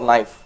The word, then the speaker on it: knife: pronounce it is it kanai for knife it is knife but how about the k there the k is called the silent letter in a word right